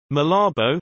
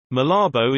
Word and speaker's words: Malabo: Malabo, Spanish pronunciation, Malabita o, formerly Santa Isabel, is the capital of Equatorial Guinea and the province of Bioko Norte.